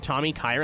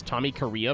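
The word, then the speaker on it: Tommykaira: I' I've been pronouncing Tommy Kyra as Tommy Korea my whole life and nobody's corrected me until recently.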